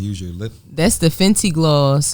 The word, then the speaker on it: Fenty: You said said Fenty. Fenty. That's what that is. Fenty gloss. Okay. Robin Fenty. It rhymes with- the bad gal.